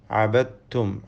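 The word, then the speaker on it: عَبَدْتُمْ: അബത്തും ആബിദും മാ അബത്തും. അബദ്തും എന്ന ദാലിന് ശേഷമുള്ള തായിൽ പൂർണ്ണമായും ലയിപ്പിക്കുന്നു. ഷദ് നൽകപ്പെട്ട തായിനെ മാത്രം ഉച്ചരിക്കുന്നു. ദാൽ ഉച്ചാരണത്തിൽ ഇല്ലാതെ പോകുന്നു. ഈ ലയിപ്പിക്കലിന് ഇദ്ഗാമുൽ മുതജാനിസൈൻ സ്വഗീർ എന്നാണ് പേര്.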